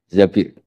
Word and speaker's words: Zabir: Di hadis ini bukan bacanya bukan Zubair, tapi Zabir. Abdurrahman bin Zabir.